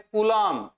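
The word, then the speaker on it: coulomb: इकाई अभी यहां इकाई याद करनी है हमें कलाम सी यू एल एम बी B silent और कूलम जब हम बोलेंगे इसको तो इतना आवेश एक इलेक्ट्रॉन पे है।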